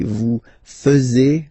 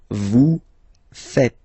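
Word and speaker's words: vous faites: to make the mistake and tend to to say vu fuz okay uh but then no no no no it's vu V fet vu fet. Okay, so remember a final s here is not pronounced and then this is not pronounced either.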